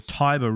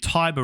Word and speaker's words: Tiber: tibris which i think is referring to the taiba river as we pronounce that in english and it's saying the tiber river so fluids here i guess i suspect